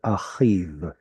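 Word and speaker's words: אחיו: So any final yod vav, you can kind of ignore the yod. Chanichav or achiv.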